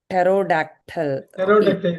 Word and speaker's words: pterodactyl: Pterodactyl, அந்த காலத்து இது மாதிரி பழங்கால உயிரினம்.